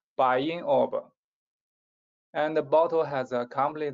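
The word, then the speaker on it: Bayan Obo: in the world, the Bayan mine. Actually, Bayan is a Mongolian pronunciation. It means a rich, sacred mountain. Its true pronunciation is like this, Bayin Orb.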